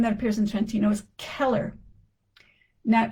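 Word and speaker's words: Cheller: Now that's not pronounced chiller or schiller. C in Italian is C like K. So C H E L L E R in Italian is Keller Keller, however they would say it with the accent.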